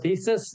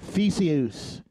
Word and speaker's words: Theseus: But you're a Ship of Thesis? Come on. Are you? I probably trying to make me look dumb on your own podcast. I pronounced it wrong. Theseus. It's Greek. Okay, well, explain that to me.